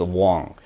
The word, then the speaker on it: Wong: It's actually just spelled differently, because Cantonese pronounced as Wong, and Mandarin Chinese is Huang.